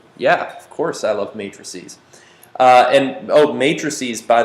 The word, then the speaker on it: matrices: yeah yeah uh so matrices is plural sometimes i intentionally mispronounce it as mattresses just because i find that amusing but don't go believing